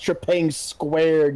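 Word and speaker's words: Trepang2: Also, it's pronounced Trepang squared, you freaking tourist.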